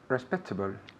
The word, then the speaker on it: respectable: Respectable. Good. Again. Respectable. Very good. Respectable. Respectable. Respectable. En la segunda sílaba recae el énfasis.